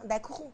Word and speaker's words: Dakourou: Je prononce Dakourou, merci.